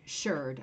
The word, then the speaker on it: shirred: Wool, shirred. I'm going to say it like that because it's S-H-I-R-R-E-D.